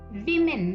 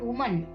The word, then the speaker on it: women: man men woman women it's women not woman put speed to it